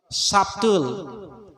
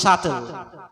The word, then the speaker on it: subtle: Remember, subtle, totally wrong. B is silent, it should be pronounced subtle.